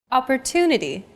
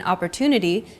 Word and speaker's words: opportunity: Opportunity. The stressed syllable to in opportunity is deemed more important, so it's pronounced longer than all other syllables.